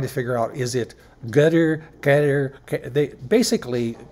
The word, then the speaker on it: Qatar: figure out is it gutter they basically Qatar is the it kind of sounds like guitar right it's kind it